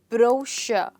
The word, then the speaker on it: brochure: it it's pronounced as brochure i'll write it for you here it's pronounced as bro sure so a brochure is